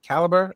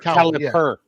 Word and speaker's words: caliper: your own little measurements with that did I caliber? Is that how you say it? Caliber. Caliper.